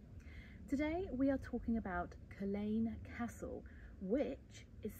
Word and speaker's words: Culzean: associated with them today we are talking about Colleen Castle which is spelled colzine and in my head when I was researching um researching it I was pronouncing it called zeen the entire time pronouncing it completely wrong um